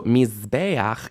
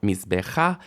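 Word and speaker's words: מזבח: Mizbeach, not mizbeach, it's hard for me to do it wrong. Not mizbeach and not mizbecha, but mizbeach with the vowel first.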